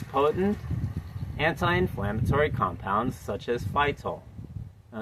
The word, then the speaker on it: phytol: It contains potent anti-inflammatory compounds such as phytol. Now, it sounds like it has the word fight in it.